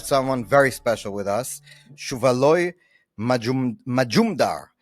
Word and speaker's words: Shuvaloy Majumdar: Today, we have someone very special with us, Shuvaloy Majumdar. I hope I said that right. You said it right.